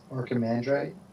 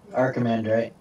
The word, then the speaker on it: archimandrite: Yeah, I'm not very good at pronouncing this. I'm going to type it. You guys tell me how to say it. Archimandrite? Yeah. Archimandrite.